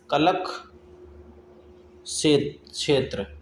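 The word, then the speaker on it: कलाक्षेत्र: है, जैसे कलशेष्ट्र श्रेष्ठ, भाई इसकी प्रोनाउंसिएशन कलक क्षेत्र, हाँ कलक क्षेत्र होगी इसकी प्रोनाउंसिएशन।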